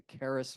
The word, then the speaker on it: Charis: run What's called the Caris Foundation uh for new monasticism and inner spirituality uh and Caris is spelled Charis like c h r i it's actually the Greek word for Grace uh and also charism